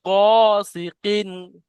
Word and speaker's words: غاسق: ওয়ামিন শাররি গাসিকিন, পড়েন ছোট করে পড়েন।